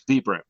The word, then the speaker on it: Vibram: I'm told it's Vibram because it Vibram, comes from yes.